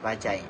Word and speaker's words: Bajaj: The word Bajaj comes from Indian's transportation company Bajaj Auto and pronounced as Bajai.